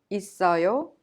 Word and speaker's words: 있어요: The final consonant double S in it of 있어요 is prolonged and connected to 어요 to be pronounced 있어요. 있어요.